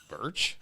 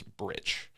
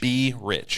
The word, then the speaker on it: Brich: Is it Birch? No. Yeah. How do we say your name? The correct way of saying it is Brich. Brich. Be rich.